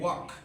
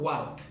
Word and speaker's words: walk: ওয়াক, WALK, ওয়াক। উচ্চারণটা হবে ও, নট ওয়াল্ক, ওয়াক।